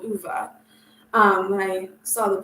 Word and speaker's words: Ove: to a man called UVA um when I saw the book title I thought it was a man called ove but if you listen to the audiobook you get the correct pronunciation I also have another